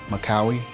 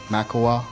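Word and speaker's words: Makkawy: have to be Muhammad makauwi maekawa I believe he pronounced it and he was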